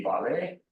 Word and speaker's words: ballet: If you say ballet, which is also taken from French, I suppose. Very peculiar about their language, they translate everything. So the T doesn't have a sound, so that's also silent,